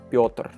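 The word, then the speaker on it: Пётр: your like my name if you see my name in russian you know it's pronounced piotr okay anyway as far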